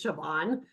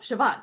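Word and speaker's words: Siobhan: Grace her name is shoban it's an Irish name I heard that in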